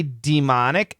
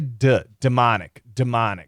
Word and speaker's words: demonic: This word, we say demonic, but we also say demonic. So both pronunciations are fine. I'm going to guess demonic. I'm going to guess d with a schwa is more common, but she absolutely says demonic corn, okay?